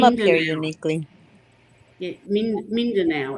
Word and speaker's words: Mindanao: Yeah, Mindanao, it's pronounced.